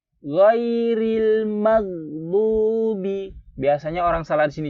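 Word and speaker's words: المغضوب: Gitu aja, jangan sampai mag, nggak boleh ada mag, mati, magdubi, bukan magdubi atau sampai magdubi, salah, Ghairil maghdubi. Ghairil maghdubi. Di sini harap ada huruf dod. Dod ini huruf dod.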